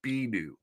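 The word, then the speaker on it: Bennu: on our own planet for generations to come B new B new thank you Adam B new B new how it's pronounced this BNN B NN U which is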